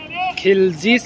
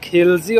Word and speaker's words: Khilji: Khilzis Madrasa. Arkadaşlar burada Khalcis yazıyor ama Khilzi olarak okunuyor.